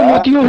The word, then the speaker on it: मोती: सर, मोती का तो मोतियों होगा सर। मोतियों की माला बोलते हैं ना, तो उसमें कोई है तो कोई मोती, सही उच्चारण मोती है, मोती बोलते हैं।